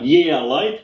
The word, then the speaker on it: Yeelight: so uh I've gotten my hands on some yeah light did I pr pronounce it like yeah light yeah yeah yeah light EX excuse me for